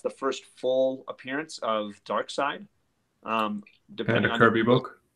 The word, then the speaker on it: Darkseid: first full appearance of Darkseid. Depending on Kirby book. Pronounce vowels correctly. It's Darkseid.